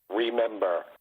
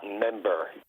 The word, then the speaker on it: remember: You can't even pronounce the word remember. It's not member, you dumb.